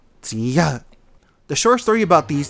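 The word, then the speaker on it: Chiyou: So, long ago, before the Xia dynasty in China, there were 3 rulers named Huangdi, Yangdi, and Chiyo. In our language, we pronounce Chiyo, Ziya.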